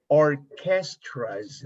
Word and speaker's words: orchestras: 1950s when you say orchestras repeat or this and ch is pronounced like q like like you like k or castras orchestras let me